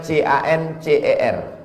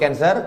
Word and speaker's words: cancer: ke dalam darah menggumpal-menggumpal menjadi Cancer tulisannya c a n c e r orang barat membacanya Cancer orang kita susah menyebut kancer kenapa nih kanker maka menggumpal dia dalam